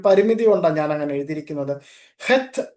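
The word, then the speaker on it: חית: ഹെത്ത് എന്നാണ് അതിന്റെ കറക്റ്റ് ആയിട്ടുള്ള ഉച്ചാരണം.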